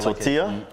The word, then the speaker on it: tortilla: like you know um in is it in spanish the double l you're supposed to pronounce as a y yeah like tortilla yeah yeah and you